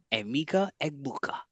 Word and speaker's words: Emeka Egbuka: Emeka Egbuka. See, I don't want to just disrespect that name by messing it up, bro. You got that. Thank you I'm for. just pronouncing it how with every letter.